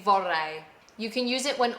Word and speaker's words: vorrei: Vorrei. But if you can't roll your R's, don't worry about it. You could just say vorrei and they'll understand you.